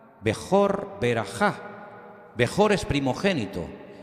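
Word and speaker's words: בכור: palabra primogénito la palabra primogénito en hebreo se pronuncia así como la tienen ustedes en la pantalla bejor y hay una una palabra que suena muy parecida que es beraja bejor beraja bejor es primogénito y beraja qué es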